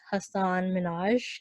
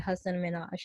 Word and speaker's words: Hasan Minhaj: correcting the world on how his name is pronounced so I think a lot of the world knew him as Hasan Minhaj and he clarified that his name is actually a husband manoj and and later interviews he said that he